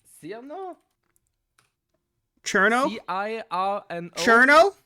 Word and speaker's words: Cirno: Cherno? I think that's how it's pronounced, I Cherno.